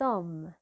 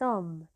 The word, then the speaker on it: homme: dire un H mué c'est un H qu'on ne prononce pas même s'il est écrit je vais vous donner des exemples on a cet homme cet homme alors on a employé